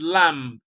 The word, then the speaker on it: lamb: actually m is pronounced B is silent and M is pronounced so that's the explanation